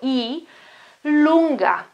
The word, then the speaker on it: E lunga: is E, E like this, like the vowel E, lunga, lunga, lunga, it means long, it's like a long E, okay, that's the translation.